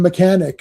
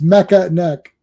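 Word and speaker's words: Mekaneck: That one fellow that one guy mispronounced Mecca and he called him mechanic.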